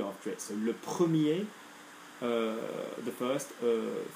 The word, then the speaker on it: premier: Okay, remember, the masculine R doesn't get pronounced if there's no E after it. So, le premier, the first, familier, particulier.